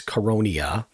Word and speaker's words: Coronia: And the Coronia, just to give you an example, it's spelled like Corona the beer, but there's an I in there, and it's Coronia.